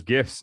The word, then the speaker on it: GIF: Well, I mean, he has all those, those gifs of him literally, and it's pronounced GIF. It's not GIF. Yeah, GIF is a peanut butter.